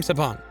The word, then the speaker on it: Saban: I'm Saban. I'm Saban. My name's on the door. Yes, that's how you pronounce it.